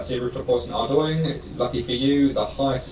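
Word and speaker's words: Ardougne: It despite what it's spelled, it is actually pronounced Ardo.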